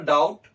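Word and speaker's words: doubt: है अगर बी बराबर डाउट तो के बराबर क्या होगा देखिए थोड़ा सा रिलेशन आपको स्थापित करना है की बी डाउट में बी क्या है साइलेंट है डाउट में बी क्या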